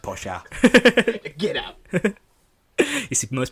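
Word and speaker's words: Porsche: It's pronounced Posha.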